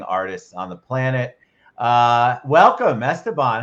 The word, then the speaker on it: Esteban: It's Esteban Ruiz. Did I say it right, Esteban?